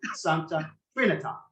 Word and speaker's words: Santa Trinita: saying Ponte Santa Trinita, the correct pronunciation of the bridge, of the piazza, and of course of the church from which the bridge and the piazza get their name is Santa Trinita, which is the Latin pronunciation of the word Trinity, rather than Trinita, which is the Italian pronunciation.